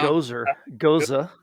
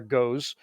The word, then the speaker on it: Gose: Goza.